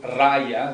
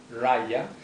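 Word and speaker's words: Raja: So the next one is called Raya, that J is pronounced as a Y, Raya.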